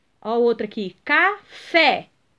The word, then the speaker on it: café: e a outra aqui café café é última sílaba tônica então pintar de verde a